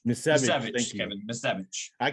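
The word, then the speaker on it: Misiewicz: Anthony Miswich, or however you pronounce his name. Misevich, Kevin.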